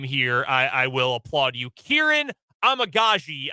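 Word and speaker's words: Kiran Amegadjie: Kieran Amagaji, I believe, is a fairly accurate pronunciation of his name.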